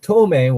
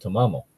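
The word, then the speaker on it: Tamamo no Mae: because for some reason I said ptomaine when I should have said to mama'll anyway I'll thing lytic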